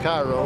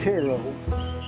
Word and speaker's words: Cairo: towns are named after Egypt which would be Caro which not pronounced Cairo ask anybody it's Koo early of course early